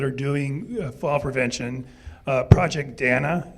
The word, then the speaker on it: Dana: doing fall prevention project Danna it's spelled Dana it's called Project Donna they actually will come